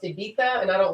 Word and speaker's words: Ibiza: name her ibiza but it's not ibiza it's ibiza it's pronounced ibita and i don't like